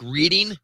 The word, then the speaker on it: Reading: And you call and it's spelled like reading. You call it Reading.